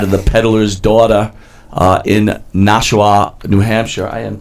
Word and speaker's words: Nashua: They're actually playing tomorrow out of the Peddler's Daughter in Nashua, New Hampshire. I am pronouncing Nashua.